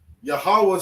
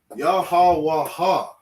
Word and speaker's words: Yahweh: But because we have connectors, the wa and the ha connect. So we say Yahweh. Okay, this is the name of the Most High. Yahweh.